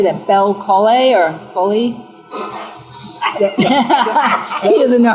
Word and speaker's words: Belcolle: Bel Colle or Colli? He doesn't know how to pronounce it.